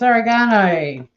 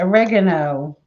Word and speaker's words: oregano: hume animal got it it's oregano or as americans say oregano in heathers i cooked